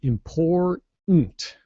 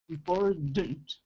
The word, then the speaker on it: important: in there so you it's imploded so don't release your tongue you say import import I know hard yeah it